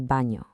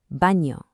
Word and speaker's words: baño: Notice the N with the little wavy line over it, the tilde. That creates an ñ sound, kind of like in the English word canyon. ¿Dónde está el baño?